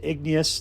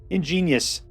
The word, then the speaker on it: Ingenious: Ingenious Smith, which I've mispronounced as Igneous, like constantly. Ingenious.